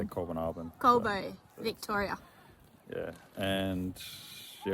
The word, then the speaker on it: Colbinabbin: We are in the place that I always pronounce wrong. Colbinabbin. Colbinabbin. Yeah, I normally say Colbinabbin.